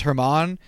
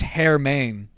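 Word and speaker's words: Germán: was Herman marques probably it's not pronounced Herman it's hair main or some like that yeah like clothes like it was closer to Jermaine than it was like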